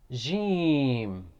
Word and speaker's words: jim: the next letter is jim this guy is at the gym you remember jim is pronounced from middle section of the tongue and roof of the mouth the next letter is